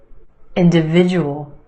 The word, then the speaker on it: individual: your schwa benefit individual individual five syllables in this word emphasis on the third syllable that is sound individual individual the second syllable is where you have the schwa in the end individual individual try this one analysis